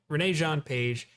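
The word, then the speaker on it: Regé-Jean Page: a paladin i call i always butchered this actor's name i always call him jean i valjean it's that's not even close to right it's renee renee jean page he looks fantastic playing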